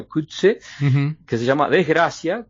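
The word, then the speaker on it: Coetzee: Tercero, está la novela del escritor africano que descubrí que se pronuncia Kutse, uh-huh, que se llama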